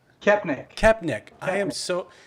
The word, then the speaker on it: Koepenick: how do you say your last name kepnik i am so like i am so phonetic